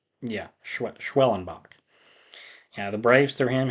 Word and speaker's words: Schwellenbach: I believe that's how you pronounce his name. Yeah, Schwellenbach.